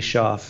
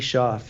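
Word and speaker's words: Shauf: His name's Andy Schaaf.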